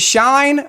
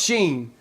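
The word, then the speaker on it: SHEIN: because he got them from Sheen is it Shine or Sheen she Sheen how do you pronounce that I prefer like AliExpress or Alibaba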